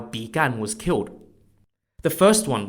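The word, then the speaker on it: Bi Gan: the most famous example is King Joel's Uncle began began spelled b-i-g-a-n now unlike his nephew began was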